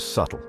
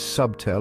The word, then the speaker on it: subtle: The biggest offender is subtle. It's like they're trying to announce it to the world when the whole point of subtle is to be understated. But here's the secret, that B is shy.